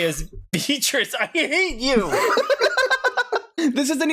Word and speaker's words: Beatrice: Look, Beatrice, we say Beatrice. You do not say Beato.